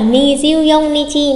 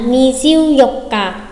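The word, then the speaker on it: 二十四日: Tương tự ngày 24 sẽ không phải là ni diêu dông Nichi mà sẽ là ni diêu dọc cả, ni diêu dọc cả.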